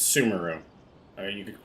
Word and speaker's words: Sumeru: updates in in summer I'm not saying sumero that it's sumeru I mean you could